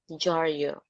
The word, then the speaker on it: dyaryo: Ng diaryo or jaryo. Jaryo. Sometimes we pronounce it that way.